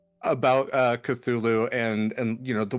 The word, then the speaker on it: Cthulhu: to be is that the actual proper pronunciation of Cthulhu is actually cuckoo uh because the it's supposed to be like this language that isn't meant for human mouths and it's mostly supposed